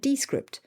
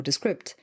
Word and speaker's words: Descript: Rode Connect, Auphonic, and Descript, or Descript, depending on how you prefer to pronounce it.